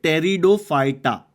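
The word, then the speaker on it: Pteridophyta: एफ ई आर एन तो इसको pronounce कैसे करते हैं टेरिडोफाइटा ये पी साइलेंट है टेरिडोफाइटा सोच रहे होंगे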